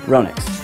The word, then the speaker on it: Ronix: some funny hashtags in there and also the phonetically correct way to say a company's name Ronix I'm and thank you for checking